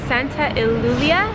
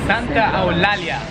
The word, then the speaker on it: Santa Eulalia: It's called Santa Ilia. Is that how you say it? Santa Eulalia.